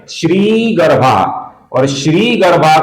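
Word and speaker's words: श्रीगर्भः: श्री गर्भा का जो श्री है दोस्तों ये दीर्घ है। इसका हमें श्री ऐसा उच्चारण करना है। कुछ लोग इसका श्री गर्भा ऐसा रस्म उच्चारण करते हैं जो कि गलत उच्चारण है।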